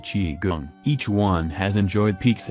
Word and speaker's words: qigong: Three of the most popular fitness trends to land in the West since the 1960s are yoga, tai chi, and qigong, pronounced qigong.